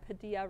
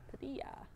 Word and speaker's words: Padilla: So Stephen Padilla says, FYI, Padilla rhymes with tortilla, not gorilla. Gotcha. Tortilla. Tortilla. Padilla.